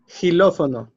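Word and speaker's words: xilófono: Because some words is pronounced like sh, some words like h, like hilofono.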